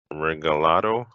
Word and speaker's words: Regalado: directly excellent uh Tom Regalado I hope I pronounced that correct you did you did I did uh go